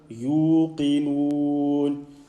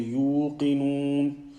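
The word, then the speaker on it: يوقنون: The sound at the end must not come from the nose. Don't say yuqinun. Yuqinun. Qaf with a kasra. Try and say the qaf clearly and also the kasra clearly.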